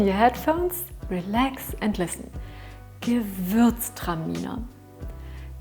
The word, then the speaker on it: Gewürztraminer: minute put on your headphones relax and listen give birth stamina give birth time you know give birth terminal give birth time Nina give